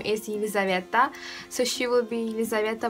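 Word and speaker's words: Елизавета: And yeah, that's right, but her Russian pronunciation of the name is going to be Yelizaveta, and her surname is Balkonskaya.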